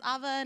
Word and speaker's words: Ava: Ava yes it's pronounced Ava not Ava Ava like guava so y'all can remember that um I am a